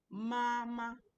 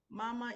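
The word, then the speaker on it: 妈妈: Mama. Mama is a first tone.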